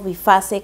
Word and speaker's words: Byphasse: compré pero esta es de la marca bifaz o bifase como he escuchado que lo pronuncian en España es esta keratina líquida indica